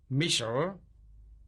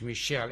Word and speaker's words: Michel: And the last name again, pronounced in Europe, Michel, in English, Michel, M-I-C-H-E-L.